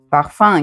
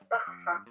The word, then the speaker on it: parfum: Fa examen qui est un mot latin. Examen. Parfum qui est un mot latin. Parfum. Donc ces deux mots un peu particuliers se prononcent un.